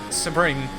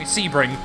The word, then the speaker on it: Sebring: really finally feels like spring well see i don't know why i keep saying it wrong sebring uh is such a